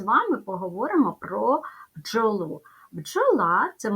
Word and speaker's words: бджола: ділимо джола ставимо наголос бджола позначимо приголосні звуки перший приголосний звук Б твердий дві букви поряд д і ж в українській мові позначають один звук Дж він твердий л - твердий звук